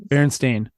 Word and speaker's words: Berenstain: Berenstain, like stain, as you stained a wall or stained paint.